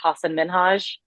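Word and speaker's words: Hasan Minhaj: to mispronounce his name, but I believe it's pronounced Hassan Minhaj, because he like it taught Ellen how to say it, so I think I did it correctly.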